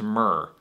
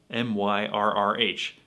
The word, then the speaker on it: myrrh: pronounce this bird now there's only one other word i've ever seen spelled with an rrh and that's mer m-y-r-r-h and that's pronounced myrrh like frankincense and myrrh that's all i've ever